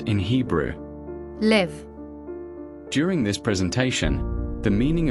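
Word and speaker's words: לב: The Greek word pronounced as Κардία is the translation of a Hebrew word found in the Old Testament pronounced as LEV.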